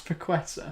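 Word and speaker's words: Paquetá: I've seen Paqueta. that... Is that how you say it? It's Paqueta.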